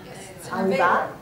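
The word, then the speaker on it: עבירה: Okay, because I'm hearing a Yiddish pronunciation, so it's not exactly like that. No, Avera.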